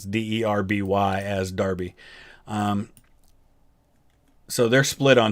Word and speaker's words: Derby: civil parish of darby and the town of derby i think i'm pronouncing that right i'm pretty sure in the uk they pronounce d-e-r-b-y as darby um so they're split on two pages actually